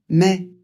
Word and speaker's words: mai: Mais a et I, ça fait e.